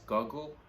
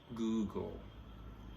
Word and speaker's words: Google: to look up finns this word is mostly mispronounced as goggle but it's not google the word is google google right so when you have something to